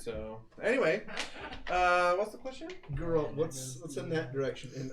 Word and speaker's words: Geralt: It's hard G. Geralt.